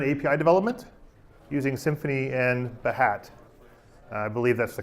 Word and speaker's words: Behat: about behavioral driven API development using Symphony and mahat I believe that's the correct pronunciation when you're not the United States I